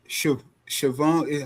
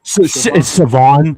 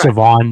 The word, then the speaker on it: Savon: And Joe, I think that Siobhan, how do you say his first name? Savon. The H is silence. Yeah. So, it's Savon. Yeah.